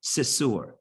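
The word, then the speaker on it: סתור: They're writing it here with this Ashkenazi pronunciation, Sisur.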